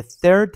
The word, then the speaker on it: third: در کلمه ی third حرف th مانند تلفظ ف در عربی ادا میشه. عربا ثهاشون رو به صورت لکنت زبونی میگن ف. پس ما هم باید بگیم third.